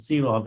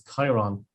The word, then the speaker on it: Chiron: products uh incorrectly uh I think I said Ceylon it's Chiron so apologies for that